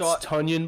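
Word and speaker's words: Tonyan: So It's Tunyon, by the way. He went to my high school. It's Tunyon. His name's Big Bob. I don't know if that's some like Canadian way to pronounce it, but in Chicago we call him Tunyon.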